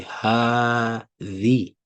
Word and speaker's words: هذه: However, by default, you have to say هذه. هذه. So هذه is one of the Arabic words that are pronounced differently from the way they are written.